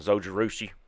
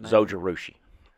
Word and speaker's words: Zojirushi: it worked for span all right don't recommend Zojirushi what stainless steel water bottles a water bottle or coffee whatever you want to put in there soldier rushi how do you spell that z o j